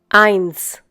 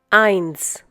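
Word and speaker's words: eins: sound of Z but whenever the letter s occurs at the end of a German word or after the last vowel within that word it is pronounced as in English s s Y once again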